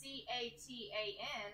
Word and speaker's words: Catan: It's like, so it's spelled Catan but with a C, so it's Catan.